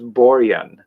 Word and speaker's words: Borjan: But I liked it because when you listen to it and they pronounce it, the J is always a Y sound. So it's Borjan.